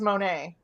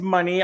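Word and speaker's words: Mercedes Moné: a action friendly uh when did it become Mercedes money versus Monae I think it was always money I just was saying it wrong because oh yeah yeah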